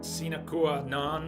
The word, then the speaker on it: sine qua non: And their existence is quite as much sine qua non, the correct pronunciation, for his as his for theirs.